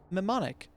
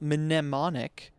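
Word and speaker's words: mnemonic: It's a silent m silent n, right? It's mimmonic, not minimmonic.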